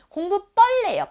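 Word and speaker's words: 공부벌레: 공부 뻘레요. 뻘레. 그래서 된 소리가 나기 때문에 사이시옷 넣어준 겁니다.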